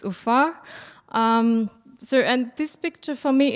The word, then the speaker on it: Ufa: It's Ufa.